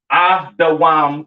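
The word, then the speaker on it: אדום: All right, pronounced Adawam in the Hebrew. All right. Edom Adawam.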